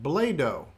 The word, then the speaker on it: Blado: It's pronounced Blado. So Blado, like Play-Doh.